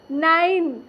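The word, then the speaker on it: nine: देखिए एन आई एन ई, नाइन।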